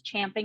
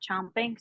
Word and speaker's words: champing: I heard that it's champing, not chomping.